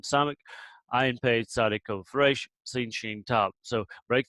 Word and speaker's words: Resh: It's the Resh. Resh, it often behaves like a guttural, and we'll talk about how they all behave. Historically, they're pronounced in the back of the throat.